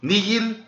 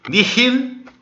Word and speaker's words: nihil: O H na pronúncia eclesiástica ele é mudo, tá bom? Ele é um pouquinho aspirado ainda, mas ele é quase um mudo. Nihil e erba. Se fosse na reconstituída seria nihil e herba.